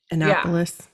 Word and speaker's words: Annapolis: Diane went off to the Naval Academy in Annapolis how do you say that Annapolis yeah right Annapolis Annapolis thank you while her boo-boo went to